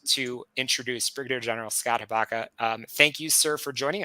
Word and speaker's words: Hiipakka: So with that, absolutely thrilled to introduce Brigadier General Scott Hiipakka. Thank you, sir, for joining us. I'm happy to be here. Thanks for the opportunity. It's pronounced Hiipakka, by the way, but don't worry about, and we just talked about that.